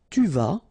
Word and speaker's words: tu vas: Tu vas, final S not pronounced. Tu vas.